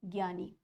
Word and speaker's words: ज्ञ: का प्रयोग होता है हम ज्ञ बोलते हैं ना ज्ञ तो ग और य की साउंड आ रही है तो साउंड करने में